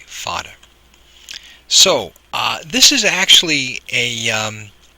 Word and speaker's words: fada: which means long stretching fada is spelled FA da fodder so this is actually